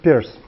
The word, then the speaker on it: Peirce: sémiotique de Charles Sanders Peirce. Donc Peirce, comme vous voulez, donc Peirce. C'est Peirce, je crois que c'est mieux effectivement comme prononciation.